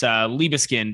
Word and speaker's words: Liebeskind: It's Liebeskind is how I pronounce it, but even other people in my family call ourselves by different last names.